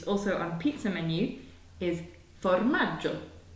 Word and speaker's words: formaggio: And we have the sound J at the end, which is spelt G-I-O. So you get the G-I, which means that we get the soft J.